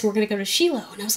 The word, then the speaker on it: Shiloh: me um i've been i will call it shiloh that's the proper way to say shiloh it is sheila i remember going to